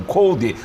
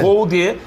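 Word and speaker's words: Coudet: Nós todos, inclusive eu, tínhamos a pronúncia errada, né? E aí os argentinos explicaram. O Cuesta nos corrigiu. O Cuesta nos corrigiu. Kudê. E aí eu fui verificar e realmente é Kudê a pronúncia, né?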